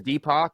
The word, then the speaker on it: DPAK: would say you know my name is deepo so deepo world and most people spell it d p a k which is the deepo